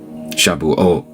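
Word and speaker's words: Shavuot: Shabuot. Thank you. Yeah, Shabuot would be plural. Shabua would be singular. Natzareth. Shabuot.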